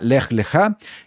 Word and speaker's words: Lech Lechá: Es la parashá número 3 y el nombre es la parashá Lech Lechá. Importante, así es como se pronuncia en la fonética, Lech Lechá, y la porción de esta semana comprende desde